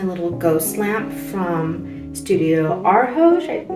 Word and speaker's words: Arhoj: So this is my little ghost lamp from Studio Arhoj. I'm not sure how to pronounce that.